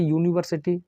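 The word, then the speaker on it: university: विश्वविद्यालय का छात्र है तो आप देखेंगे यूनिवर्सिटी तो यह कैसा साउंड है आप कहेंगे सर व्यंजन व्यंजन साउंड है तो आप एन का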